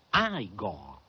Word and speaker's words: Igor: No, si pronuncia Aigo. Ma mi hanno detto che era Igor. Beh, avevano torto, non le pare?